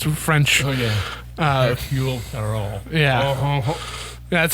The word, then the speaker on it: Hercule Poirot: Hercule Poirot. Yeah. That's how you pronounce his name.